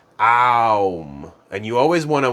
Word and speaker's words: Om: And Om is typically pronounced Aum.